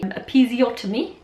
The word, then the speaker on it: episiotomy: And so in the end I ended up having a episiotomy. That's how you pronounce it.